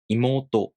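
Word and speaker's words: いもうと: For example, imoto.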